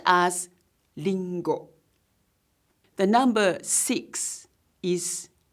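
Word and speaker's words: りんご: in the Japanese language its pronunciation however is like L sound for example an apple is Ringo and is pronounced as lingo the number six is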